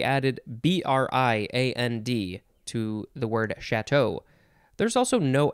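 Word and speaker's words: château: Next, we have Chateau, C-H-A-T-E-A-U, and there is a carrot accent on the first A.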